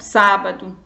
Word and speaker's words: sábado: Por exemplo, sábado. Sábado. Qual é a sílaba tônica da palavra sábado? Vou relembrar um pouquinho a sílaba tônica. Sábado é o sá, porque é a antepenúltima. Então, ela classifica-se como proparoxítona.